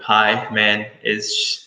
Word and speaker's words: Himanish: that problem yeah so it's it's himenish so hi man is so just like breaking it out in the syllables and how does your